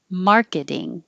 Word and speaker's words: marketing: Maybe that's not as useful as just the word marketing. The T changes to a D.